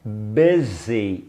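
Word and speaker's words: busy: com essa palavra olá escreve com u mas é pronúncia é Bibi bezei bezei desenho significa ocupado se liga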